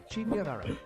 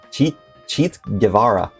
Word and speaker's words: Che Guevara: Pronounced Che Guevara. Cheat Guevara. Cheat Guevara. Cheat Guevara. Che Guevara.